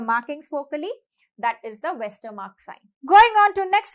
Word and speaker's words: Westermarck: Westermarck, read it as vascular mark.